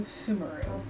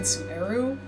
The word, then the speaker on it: Sumeru: going to be honor to sumeru that's how it's pronounced and that's how I always pronounce it I never said suu no that wasn't me